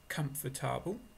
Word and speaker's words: comfortable: understand more I feel comfortable comfortable no thank you comfortable please it looks like four sounds four syllables but when we speak like natural speakers we often use only three comfortable I write the phonetic